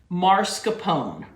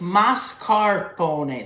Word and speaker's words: mascarpone: in here marscapone okay it's m-a-s not m-a-r so please if you say it wrong fix it now before i ever hear you say it's mascarpone the a-r is after the six not before it's not marscapone but if you want